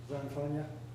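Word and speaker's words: Zanfagna: Just like it sounds. Rhymes with lasagna.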